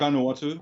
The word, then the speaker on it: Vanuatu: You have been all over because you were in Vanuatu. How do you say that? Vanuatu.